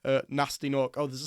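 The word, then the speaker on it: Gnasty Gnorc: who are imprisoned by Nasty Nork, except he has a silent G at the start of Nasty and the start of Nork.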